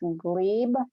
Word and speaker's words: glebe: There's a word I believe is pronounced glebe, G-L-E-B-E.